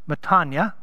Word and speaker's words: metanoia: this the greek word metanoia which is properly pronounced matanya is not i'm gonna beat myself up and